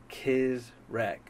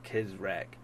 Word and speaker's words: CizreK: So I've always spelled it that way because that's how my last name is spelled, but it's pronounced CizreK, like K-I-Z, rec as in W-R-E-C-K. So CizreK.